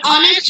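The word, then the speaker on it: honest: এবং তা উচ্চারিত না হয় না হয়ে তার উচ্চারণ যদি আ এর মত হয় তাহলে তার পূর্বে এন বসে যেমন এন অনেস্ট ম্যান an hour N honourable person এসেটটা তিন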